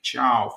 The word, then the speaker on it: Thiaw: United have finally signed Malik Chow pronounced Malik Chiao for a reported fee of 35 million including add-ons.